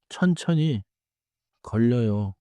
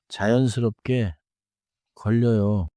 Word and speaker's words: 걸려요: 천천히 걸려요. 자연스럽게 걸려요. 걸려요. 좋습니다. 걸려요에서 걸. 다음에 혀가 바로 이어져요.